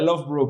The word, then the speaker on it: Loughborough: Se pronuncia Loughborough, pero se escribe re raro.